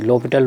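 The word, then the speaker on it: L'Hôpital: फ़िलहाल अब यहाँ से हम जब इस फार्म में आ गया तो DL हॉस्पिटल रूल अगेन लगा दें, क्योंकि DL हॉस्पिटल रूल हम लोग जानते हैं, जिसे l'Hopital रूल बोलेंगे, प्रोनाउंसिएशन करेंगे 0 + 0, तो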